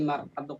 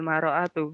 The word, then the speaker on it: المرأة: Man hadhil maro'atu. Mar'atu Ustadz. Bukan maro'atu ya. Mar'atu.